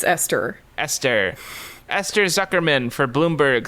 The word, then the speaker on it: Esther: Esther, how do you pronounce Esther? Ether? Buddy. Esther? It's Esther.